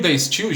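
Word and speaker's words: De Stijl: pouquinho diferente tá gente no holandês o j tem som de i tá bom então se escreve tá still com i e j tá bom e o day still gente ele acabou se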